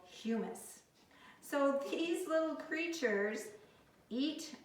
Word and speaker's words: humus: surface of the soil this soil is called humus not hummus it is humus you can see it's very dark kind of